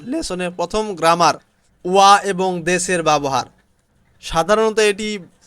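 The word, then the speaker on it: は: বাক্যে ব্যবহার হলে ওয়া, শব্দে ব্যবহার হলে হা।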